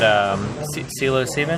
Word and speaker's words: psilocybin: So we did, I did psilocybin. How do you pronounce it? Psilocybin.